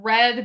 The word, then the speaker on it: read: the word re a can be pronounced as read or as red and when within says to him oh just to let you know it's that means red message and then he